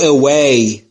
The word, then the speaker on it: away: تلفظ دبلی رو دوستان توجه بفرمایید. اوی نمیگم. نیش دندونهای بالا لب پایین رو نمیگزه. این تلفظ ویه. در تلفظ دبلی لب هاتون باید تقریبا حالت بوسه باشه.